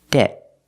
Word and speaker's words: debt: a vowel phonetically so we make a stop te debt debt we don't say debt usually we don't release the T at the end you hear debt and